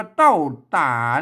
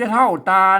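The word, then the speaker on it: เต้าตา: นั เต้า นะ ครับ อ่าน ว่า เต้า ตา นั่น น่ะ ตา เนี่ย บ้า เต้า ตา มัน ไม่ ใช่ เท่า ตา นะ ไม่ มัน เป็น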